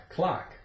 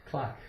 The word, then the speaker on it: clock: The C is silent. You have the O, K, ka, kalak, clock, clock.